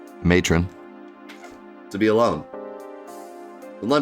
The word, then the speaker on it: Matron: going get in somebody said that matron rhymes with bacon and that's how you